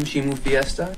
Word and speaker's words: Chimu Fiesta: Find out more about me and our upcoming album, Chimu Fiesta.